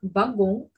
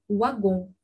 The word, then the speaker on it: wagon: Pour le mot wagon, par exemple, en français dira wagon, alors qu'en belge dira wagon.